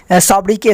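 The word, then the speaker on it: sobriquet: और ये सॉब्रिके, सॉब्रिके का मतलब क्या होता है, तो उपनाम होता है, यहाँ पे टी साइलेंट है, ठीक।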